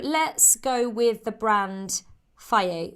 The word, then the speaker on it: Fage: So let's go with the brand Fage. It's spelled F-A-G-E. I called it Fage for like ages, but Fage, that one.